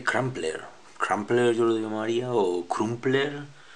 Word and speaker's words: Crumpler: plr camps eludió mariado crumpler y un poco así pronunciando lo cómo se escribe bueno este es una